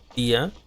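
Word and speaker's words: Dehya: El modo en que se escribe su nombre es raro, porque se pronuncia como Dia, pero la manera que se escribe es rara.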